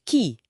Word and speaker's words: qi: Buku ini ngegambarin Q bacanya C ya.